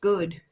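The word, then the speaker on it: Golode: his surname is literally it's spelled g o l o d e yeah but it's just pronounced good yeah and everyone's like oh do you have a surname and he's like yeah good and they're like we're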